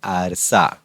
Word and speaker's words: आरसा: आईना और आगे है मराठी में उसे कहेंगे आरसा। यह आरसा ए आर सी ए ऐसा उसका प्रोनाउंसिएशन है। उसका उच्चारण है आरसा हिंदी में आईना और मराठी में आरसा।